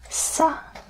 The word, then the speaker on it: ça: Ça is soft.